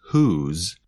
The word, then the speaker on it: whose: The contraction and the possessive adjective both sound the same. They are both pronounced with the sound of the letter Z at the end.